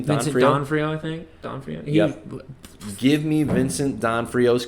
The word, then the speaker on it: D'Onofrio: How do you pronounce his last name? Vincent D'Onofrio, I think. D'Onofrio.